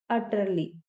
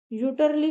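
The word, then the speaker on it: utterly: अगला वर्ड है हमारा अटरली। इसे आप यूटर्ली मत बोल दीजिएगा। यहां पे जो यू लिखा है उसे हम आ की आवाज देंगे। तो हम इसे पढ़ेंगे अटरली।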